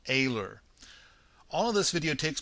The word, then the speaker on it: Oehler: Mike aor now okay I see that it's oler but it's he actually pronounces it AER all of this video